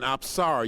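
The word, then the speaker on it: apsara: from Cambodia and specifically she is called an absara you spell that a p s a r a and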